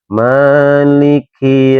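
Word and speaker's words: مالك: Ini huruf K. K biasa emang K ini salah satu termasuk dari huruf hames, Teman-teman, ya mengeluarkan angin ketika dibaca. Jadi kalau Teman-teman baca di surat Alfatihah yang keempat, maiki yaumiddin ka maiki yaumiddin. Ya haru mengeluarkan angin ya.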